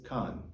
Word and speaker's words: Caen: So I asked this helpful shopkeeper, and he told me it was Caen, exactly the same as Caen!